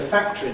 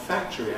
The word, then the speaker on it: factory: I think I will say factory not factory.